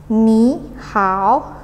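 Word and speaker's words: 你好: Ni hao Ni hao Snada tiga ingat pada tiga naik turun naik jadi bacanya nih how Oh iya kalau no BB terus bacanya juga di tegesin di huruf B huruf vokal yang ada nadanya jadi Mihawk bukan nih how bukan di webnya tapi dianya How bukan di how gitu ingat ya kalau PD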